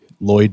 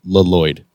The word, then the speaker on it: Lloyd: The first L is silent.